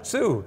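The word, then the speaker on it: Suh: Sue. That's S-U-H.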